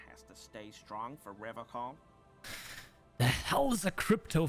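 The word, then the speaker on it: Revachol: innocent no you said Riv call I like to pronounce it the hard way the old way the vespertine way he Winks at you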